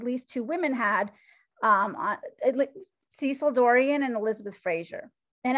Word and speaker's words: Cecil: you will see that her name is spelled cecile but she never went by cecile it was cecil and as an aside